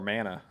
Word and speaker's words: mana: Probably whoever has more mana. It's pronounced mana. Sorry, mana.